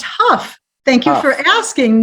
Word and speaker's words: Hough: name correctly is that it is pronounced Huff thank you for asking